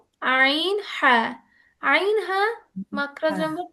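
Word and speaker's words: ع: তো এই যে কত এই খারাপ ভাই হাল্কের মাঝখান থেকে উচ্চারণ হচ্ছে আইন হ্যাঁ।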